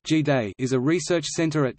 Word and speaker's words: GDAE: The Global Development and Environment Institute (GDAE), pronounced G-Day, is a research center at Tufts University founded in 1993.